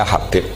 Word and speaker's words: Habib: Itu di harokatnya kitab itu ada yang nulis Hubab, tapi yang benar yang benar itu bacanya Habib. Habib itu As-Sulami, itu ikut marga Robi'ah.